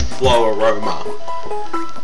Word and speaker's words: Floaroma: it's FL Ro Roma it's like Aroma but it's like flow so it's flow Aroma um so yeah uh